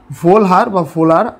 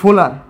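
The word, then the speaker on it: Wöhler: তো এরপরে জার্মান বিজ্ঞানী ভোলার 1828 সালে, ভোলার বা কোনো বইয়ে ভোলহার লেখা থাকে, ভোলার, জার্মান প্রোনাউন্সিয়েশন একটু অন্যরকম, WOHLER, এটা জার্মান লেটার।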